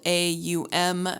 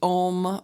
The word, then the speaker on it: Om: And if you've read anything about Om, it's also spelled A-U-M, and I believe it could be, I've read that it's pronounced Aum. And I've actually, seen different things that it's pronounced Om versus Aum.